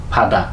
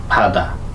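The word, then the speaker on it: 바다: যেমন ফাদা এখানে বাধা বলবে না ফাদা ফাজি ফাজি মানে প্যান্ট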